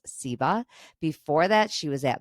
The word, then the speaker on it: SIBA: She is a writer, editor, and executive director of the Southern Independent Book Sellers Alliance, pronounced SIBA.